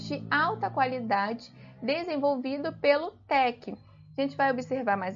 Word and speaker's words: TeX: surgiu latc o latc ele originou do sistema Tech que foi fundado né criado pelo cientista Donald